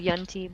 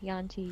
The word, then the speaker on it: Yuan-ti: I pronounce them Yunti, but either way, Yanti, Yunti.